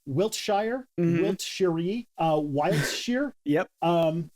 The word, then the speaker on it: Wiltshire: what a stone Stonehenge yeah Stonehenge is in Wiltshire and it is and I'm sure I'm just going to do all the takes because there is never a correct way to pronounce any City in Britain so Wiltshire Wiltshire wiltsher uh Wild year yep um and